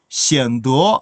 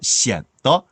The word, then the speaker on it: 显得: 이거 성조가 어떻게 되죠? 显得 아닙니다. 경성이에요. 발음 따라오세요. 显得. 이 발음을 제가 대학에서 강의하다 보면 어려운가 봐요. 이 발음이 꼭 그렇게 이성의 느낌을 집어넣더라고요. 显得 이러시면 안 되고요. 그 앞쪽에 있는 시엔만 아래로 뚝 떨어뜨리세요.